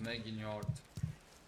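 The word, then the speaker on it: Megingjord: Yeah, that's how it's pronounced. Meginjord.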